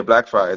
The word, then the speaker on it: Blackfriars: Yeah, yeah, Blackfriars.